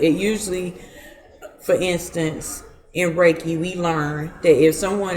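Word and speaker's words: Reiki: deal with reiy raiki how you say it raiki raiki so that's chakas right mhm do each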